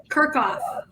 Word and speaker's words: Kirchhoff: Kirchhoff. So I know it's got CHH, but pretend like it's KIRK. I would have said Kirchhoff, and I probably will at the end of the broadcast too.